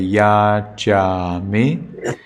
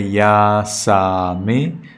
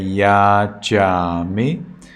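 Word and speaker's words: yācāmi: So when you say, you say Yajami. In Burmese you say Yasami, but here you say Yajami.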